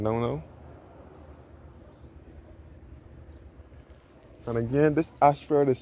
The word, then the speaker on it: Ayshford: And again, this Ashford is spelled A-Y-S-H-F-O-R-D.